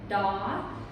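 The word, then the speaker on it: ដ: But just in review, we had daw. Remember, all of these rhyme with the word law.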